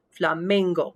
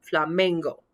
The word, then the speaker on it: flamenco: that syllable together so fla main go flamingo and i go up on that second to last syllable flamingo fa me family i'm